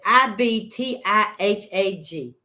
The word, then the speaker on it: Ibtihaj: Ooh, that's Ibtihaj.